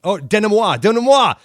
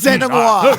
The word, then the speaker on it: denouement: Last week, if you recall, I totally boned the denouement pronunciation. I think I say, denouement. I was going to say, dude, I hate to tell you that you did it because it's denouement.